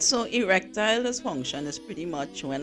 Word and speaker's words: erectile: I always hear the word, erectional, dysfunctional. Oh gosh, what is that? mash breaks. Erectile.